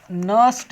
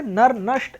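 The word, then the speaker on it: Nernst: तो एन यहां साइलेंट है। मतलब ये आर यहां मतलब एन साइलेंट है। इसे पूरा पढ़ने की कोशिश ना करें। नर नष्ट इक्वेशन ऐसे ना पढ़े।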